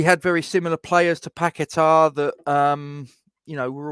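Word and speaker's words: Paquetá: been a major disappointment I'm told it's packetar that's what I'm being told um I put porn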